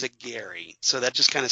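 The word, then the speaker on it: Gerry: that's that it's spelled GE rry but he pronounces it Gary so that just kind of stuck in my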